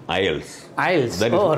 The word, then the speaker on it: IELTS: language testing system and we should uh pronounce it ielts i'll better go right